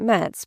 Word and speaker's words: Metz: He never was great in geography, you know, and somehow he thought that Metz, pronounced French fashion, must be on the road to Rome.